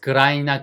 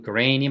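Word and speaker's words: grain: 놓은 것들 자 그래서 그라인이나 그린 아니고 바르면 그레인이 맞더라 그래서 이렇게 단음절인 경우에 음절이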